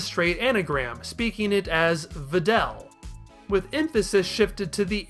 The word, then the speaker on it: Videl: because of that I'd argue that while the v-i-d-e-l spelling is the best choice nozawa Nails it it's pronounced Videl and that's where we're going to